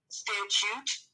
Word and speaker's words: statute: And she kept saying this, it's called, a lot of people, they don't pronounce it correctly, statute of limitations is the proper way to say it.